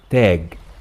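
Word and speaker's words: تاج: crown by the way masri will pronounce it tag so you see how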